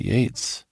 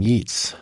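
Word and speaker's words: Yeats: embarrassed for me chuckles, I pronounced his name Yates, not Yates. Jill, you probably don't remember this. Instead of telling me to get my greasy head off your clean chalkboard, you just grin to get your words right. Instead, you're pretty sure it's pronounced the other way, Steven, but yes, it does look like eats.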